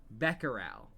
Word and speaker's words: Becquerel: Becquerel. That's how you're supposed to pronounce it.